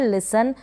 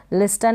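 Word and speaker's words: listen: फिर ये है लिसन, लिस्टन नहीं पढ़ेंगे, लिसन का मतलब है सुनना, ध्यान देना, लिसन।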